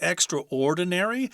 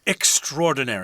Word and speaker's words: extraordinary: a lot of something some people will say extraordinary that is in the dictionary I guess it's correct but most people say extraordinary oh that's so extraordinary